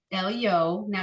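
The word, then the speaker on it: עליון: to our target word our target word ends with an n sound el yon we just read a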